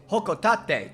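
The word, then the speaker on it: Hocotate: only meet then yes oh that's how it's pronounced guys everyone's freaking about about how politena says it it's hokotate just like Britney says it that's it that's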